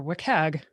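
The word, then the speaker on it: WCAG: web content accessibility guidelines or wikkeg as i said i've heard that it's like a trivia or not a trivia question but like a how do you pronounce it i call it a cag so it was a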